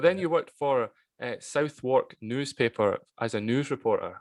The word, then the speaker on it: Southwark: But the Southwark newspaper is, pronounced Southwark.